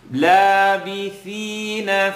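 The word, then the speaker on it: لابثين: Labith, tip of the tongue, edge of the top teeth. Labithina fiha, fiha.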